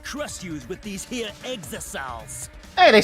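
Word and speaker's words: Exisals: And if you even try to interfere, we'll just crush you with these here exosols.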